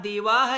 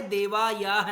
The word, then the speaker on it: देवाः: अस्तु, अब वहां देवाह लिखा है, देवायाह नहीं लिखा, ठीक है। क्या लिखा हुआ है? देवाह। या का उच्चारण नहीं है वहां हा का उच्चारण निकला है, देवाह, ठीक है।